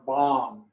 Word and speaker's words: Bam: And the seed syllable is Vam or Bam. Vam in Sanskrit and Bam in Tibetan.